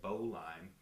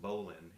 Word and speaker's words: bowline: like it look looks like it would say bowline but actually it's pronounced bowline and so there were no e on the